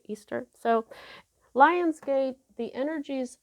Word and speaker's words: Ishtar: easter's lionsgate you you a lot of people call her ishtar but i've heard that she's pronounced easter a lot like you know the holiday that christians celebrate easter so lion's gate the